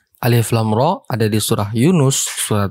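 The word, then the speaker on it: الر: ada alif lam R alif lam ro ada di surah Yunus surah Hud Surah Yusuf Surah Ibrahim dan surah al-hijr bacanya lamnya 6 harakat dan rnya itu cuman dua harakat sebagai Mad thobii Harfi alif lam ro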